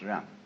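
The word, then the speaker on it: 仁: In Confucius philosophy, the fundamental virtue of a human being is called Ren, spelled Jen for reasons best known to Chinese scholars. I don't know what they are, but it's pronounced Ren.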